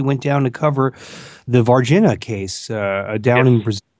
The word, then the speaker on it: Varginha: In case not, maybe you can just give a brief little description of the Varginha. What's the proper pronunciation? How do the Brazilians say it? Varginha.